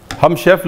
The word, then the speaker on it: roux: In culinary terms, this is known as 'roux' with an x but it is pronounced as 'rou'.